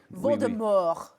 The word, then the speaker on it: Voldemort: it so much, is pronounced a little differently, almost La Francais, Chapala Francais, OK, Voldemort, no T.